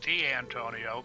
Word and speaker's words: Dantonio: was Dantonio come on I have spelled just like your name they pronounced it deantonio but well that's how I really pronounce my name yeah but but yeah